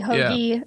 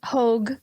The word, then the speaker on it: Hauge: It's a Hauge, hoagie, hogue situation, depending on how sophisticated you are.